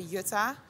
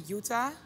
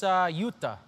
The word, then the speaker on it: Jutta: In America, your name is, well, they would say Jutta. Yeah. That's what I thought it was at first. Yeah, in the Netherlands they say Jutta, but it's actually Jutta.